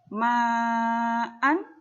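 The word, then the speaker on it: مَعًا: Ma'an ketika jatuh di akhir ayat, maka dia menjadi ma'a.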